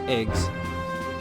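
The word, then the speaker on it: EGS: depending on the location a GWS which stands for which is pronounced eggs enters the assigned eggs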